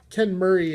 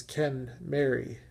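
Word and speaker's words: Kenmeri: would become Ken Mary ken Murray is the common pronunciation but as I've learned a lot about these cars lately the proper pronunciation is Ken Mary as in Ken and Mary and if you want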